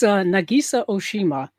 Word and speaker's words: Nagisa Oshima: Nakasaka Omi Oshama Oshama. It's Nagisa Oshima.